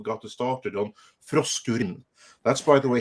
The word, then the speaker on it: Frosk: since hyper diver 2 got to started on frost that's by the way how you pronounce it because for some reason this woman